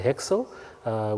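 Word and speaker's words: HXL: The first one, it's pronounced the HEXL, which stands for Humanitarian Exchange Language.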